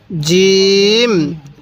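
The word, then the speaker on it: جيم: করবেন নরম করে পড়বেন এরপরে বলবেন এই হরফটির উচ্চারণ কিভাবে পড়তে হবে জিম জিম আরেকবার বলুন আমার সাথে জিম তাহলে এই জিমের কয় নক্তা এক নক্তা আমাদের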